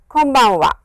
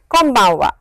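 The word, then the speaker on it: こんばんは: it is pronounced is, press your lips like this, close your lips and it is an M sound.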